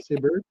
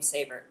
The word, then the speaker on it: Sabert: Sabert?